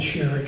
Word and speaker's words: Sherrick: Her dad was his cousin, and she knew it was Sherrick. She was pretty sure she knew it was Sherrick because her maiden name was Sherrick. So that's the way it's pronounced.